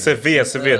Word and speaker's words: Sevilla: It's Sevilla. The L is silent.